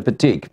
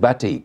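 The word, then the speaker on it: batik: I and die but you you pronounce said petique I would have said bati no that's the yeah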